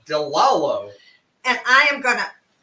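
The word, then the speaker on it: DeLallo: marinara, but I discovered something by Delano, how do you pronounce that? Delalo.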